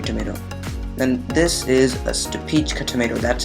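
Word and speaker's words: Stupice: Then this is a Stupichka tomato. That's how the name is pronounced.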